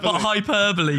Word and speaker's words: hyperbole: I thinking of Super Bowl there we go hyperbole some people would say the superbo do you